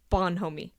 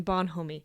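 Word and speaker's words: bonhomie: day I must have missed it he says Bon homie Bon homie mhm how do you spell that b o n h o m I.E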